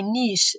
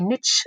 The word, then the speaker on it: niche: I'm that is my Niche um in a way or you say Niche or something well yeah we say Niche Americans say nich okay I like Niche